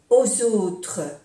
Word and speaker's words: aux autres: Penser aux autres. Aquí hacemos también la unión. Aux autres. Como si fuera una S. Aux autres. No se pronuncia la S de plural.